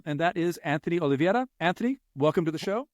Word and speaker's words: Oliveira: the show hello hello I've never heard anyone say my name right before on anything I actually went to olivetta high school so there you go um whoa yeah that's you're nailing it actually ol Middle School